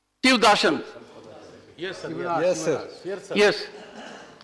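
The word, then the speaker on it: Sivadasan: He is Dasan of Shiva.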